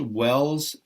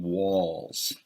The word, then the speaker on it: wells: a few small errors you pronounced wells in a way that made me think you kept saying walls so be careful about that you said my mom